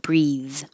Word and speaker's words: breathe: it doesn't breathe and the th is voiced doesn't breathe Advent series Advent same